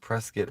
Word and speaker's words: Prescott: And yeah, no, I pronounced that right. Prescott, Arizona. Um, I love that area.